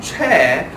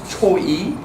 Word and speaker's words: Choi: And then Che, some people call this Choi, but it's, I told you that the last name is 1 syllable, has to be 1 syllable, not Choi, has to be Che.